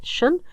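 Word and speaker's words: -tion: Okay, but as far as grammar is concerned, when you have a word that ends in tion or sion, pronounced as shun, this is a noun.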